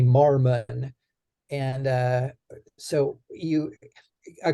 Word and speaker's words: Mormon: and what's interesting is Mormon m-o-r-m-o-n there's two o's and um the the pronunciation on the one is different than the pronunciation on the last and it's actually Marmon and uh so you